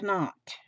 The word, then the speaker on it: knot: I don't like to waste letters, They put that K there for a reason. So I call it a knot. My knees, I call them knees.